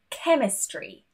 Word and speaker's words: chemistry: There are quite a few situations where the H is also silent. For example, CH, such as chemistry, Christmas, echo, or when we have RH next to each other, rhythm, rhino.